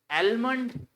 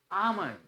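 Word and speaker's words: almond: इट्स रिसी writ P जो होता है यहां साइलेंट होता है चुप रहता है इट्स रिट अके एलम नाउ इट्स आमंड आमंड आमंड doubt तो बिल्कुल सबका सही होता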